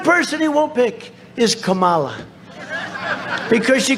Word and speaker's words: Kamala: to interrupt him know my name is Kamala like Kama I remember that like